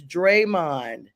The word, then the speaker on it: Draymond: Richard is helping you pronounce it, Jack. We have already told you this. It's Draymond.